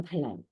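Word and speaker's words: دال: 바로 달입니다 달 달 달 달 무슨 달 할 때 달 달이 단어의 발음은 쉬워요네 우리나라 말에 있어요 디귿이 영어로 치면은 디가 되겠죠 디 그래서 달 자 그거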